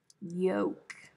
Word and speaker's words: yolk: time what about yoke do you pronounce the l no i don't yoke yolk not odd just southern